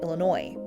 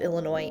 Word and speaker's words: Illinois: the name called it Illinois it's that French pronunciation from the 1600s that we continue to use today and it's why the S at the end of Illinois is silent unfortunately for the eliniwack